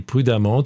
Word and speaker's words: prudemment: prudent tu trouveras l'adverbe prudemment et prudemment tu vois qu'il s'écrit d'une façon très particulière EMM ent c'est un E qui se prononce a comme dans femme je te laisse faire